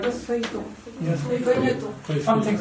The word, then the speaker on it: feuilleton: In this country, they were called feuilletons or something like that. I'm not pronouncing it right. Something like this? Feuilleton. Yes. Feuilleton.